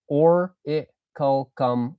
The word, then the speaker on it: orichalcum: So it's orichalcum, orichalcum, orichalcum, orichalcum. Okay. It's a C, not a CH.